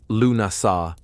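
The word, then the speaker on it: Lughnasadh: Lugnasad, pronounced Lunasa, the Celtic festival honoring Lug, the god of light, craftsmanship, and war.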